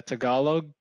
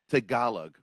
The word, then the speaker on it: Tagalog: Yeah, Tagalog. Tagalog.